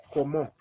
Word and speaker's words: comment: in french we're going we're going to omit the last word we'll pronounce like como we'll forget about the